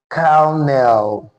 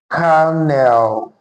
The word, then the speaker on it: colonel: This word is actually pronounced carell. Okay. It's pronounced as carell not col.